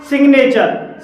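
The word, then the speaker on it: signature: इसके हैं जैसे कि सिग्नेचर सिग्नेचर में जी के बाद एन आया है और यहां पर जी साइलेंट नहीं है तीसरा हमारा अपवाद है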